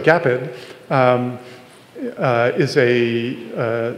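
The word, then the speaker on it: GAPID: a awesome new debugger I think it's pronounced G apid but maybe it's gaped it's gaped okay yeah the Google guys are saying okay so gaped um uh is a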